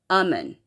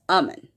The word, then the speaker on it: Amun: Moon 354 said, it's pronounced Amun. So it's not Iman, it's Amun.